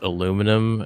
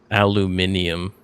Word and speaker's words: aluminium: still uh still baffles me that we Americans pronounce it as aluminum and then people in Britain pronounce it aluminium.